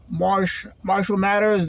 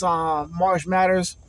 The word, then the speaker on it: Marsh Matters: Marshall Matters. Don't fucking put me in the ground if I say your name wrong. But it's Marsh Matters, the one that does all the camper shit.